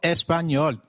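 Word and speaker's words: español: It is pronounced as ni like in canyon. So, can you try saying espanol? It is called espanol.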